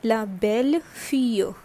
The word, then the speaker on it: belle fille: Alright, so this becomes daughter-in-law, and the pronunciation is la belle fille.